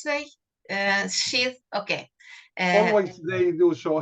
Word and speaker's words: Sheth: Sorry, I couldn't pronounce it in the correct way. Sheath, okay.